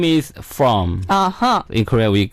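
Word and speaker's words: Fromm: who is it original style her name is from uhhuh in Korea we pronounce purum right purum right so that's pronounced uh spelled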